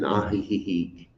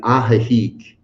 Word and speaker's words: Ajijic: It's in Ajijic. I just put an extra syllable in there. Sorry, my friends. I put an extra syllable. It's in Ajijic, Mexico.